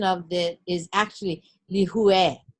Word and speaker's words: Lihue: So for example, the word lihue, L-I-H-U-E, the correct pronunciation of it is actually lihue, not lihui.